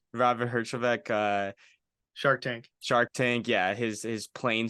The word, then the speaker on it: Herjavec: Robert Herjavec. Robert Herjavec.